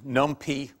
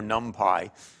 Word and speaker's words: NumPy: called by lab uh either ounc numy or numpy uh you can choose your pronunciation as you prefer uh this basically gives